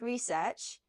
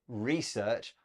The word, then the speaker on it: research: a note about pronunciation Beth you said research I say research it's just a change in word stress and both are fine now the headline we